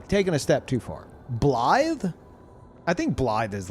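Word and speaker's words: Blaid: It's like, "Well, it's pronounced Bllythe." It's a cool name. It really is. But it'd get mispronounced constantly, at least in the US. Like, everyone would be like Blade, which I mean could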